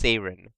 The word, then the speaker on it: Seiren: Actually, what it is the Greek word for the mythical creature is spelled and pronounced Seiren. Seiren. But in English, it got changed to Siren. So if the character is named after the Greek word for it, then Seiren is technically correct.